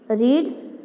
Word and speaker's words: read: Second है teach taught will teach, रीड रेड और will रीड, इसे लिखते स्पेलिंग वही आती है READ रीड पर उसमें हम इसको प्रोनाउंसिएशन रेड करते हैं।